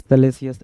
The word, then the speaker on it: salacious: सेलेसियस, SALACIOUS, सेलेसियस, कामातुर।